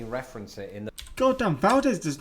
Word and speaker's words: Valdez: a spanish naval officer locals in fact pronounce it as valdez as in valdez nuts does that is that